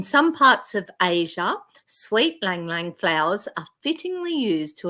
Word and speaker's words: Ylang Ylang: If you're like me, you might have once pronounced this oil as ylang ylang, but it actually has a mostly silent Y, causing the syllables to roll off the tongue, sounding more like lang lang.